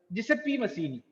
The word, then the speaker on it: Giuseppe Mazzini: Original Italian, it is termed as the pronunciation is Giuseppe Mazzini. Giuseppe Mazzini, right or not?